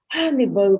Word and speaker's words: Hannibal: We had to go through days of Hannibal crossed the Alps. Hannibal, Hannibal, Hannibal, Hannibal, Hannibal crossed the Alps until we learned to respect the H.